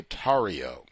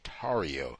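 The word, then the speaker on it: Tarrio: my sick Brothers uh Enrique toio mispronounced Enrique tario my sick non-white brother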